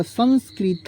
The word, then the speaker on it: संस्कृत: इसके चलिए एक और वड लिखते हमलो क्या संस्कृत पढ़ लिखते संस्कृत संस्कृत ठीक है संस्कृत अब यहां पर देखिए य प सं यहां पर क्या हुआ संस्कृत इसको क्या पढ़ेंगे आप लोग संस्क तम संस्कृत